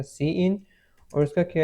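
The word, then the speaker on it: cin: यहां पे सी इन सी इन जो है आपके पास वो प्रोनाउंस होगा ए सी इन और उसका क्या है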